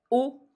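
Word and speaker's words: を: hantin il a raconté la particule o qui s'écrit W qui se prononce plutôt o sans le W c'est la particule de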